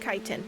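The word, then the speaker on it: chitin: It's pronounced kiten.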